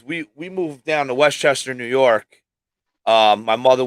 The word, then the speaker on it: Westchester: that no westchester county so you say it like westchester yeah it's west chester but it's one word westchester yeah okay we moved